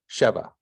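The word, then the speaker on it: שבע: need a bigger TV the accent's up here so you're going to put your emphasis on the first letter oh no no it's just over sure so exactly Sheva Shiva which means seven Sheva you essentially have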